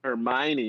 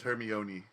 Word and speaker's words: Hermione: Well, C3PO and R2D2 are that's basically I always forget how to pronounce her name because it's not Hermione. Normal. Ooh. When I was reading the books, I read it as Hermione.